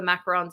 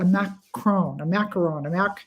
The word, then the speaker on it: macaron: And then I ate all the macarons I could find.